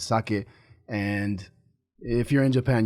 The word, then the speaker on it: sake: at right now so what what do you pronounce that it's actually sake it's not saki that's how us Americans say it but it's sake and if you're in Japan you would call